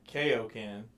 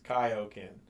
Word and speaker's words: Kaioken: because they were like it's not kokan it's Kaioken it's not spelled with an E it's spelled k-a-i-o right right well the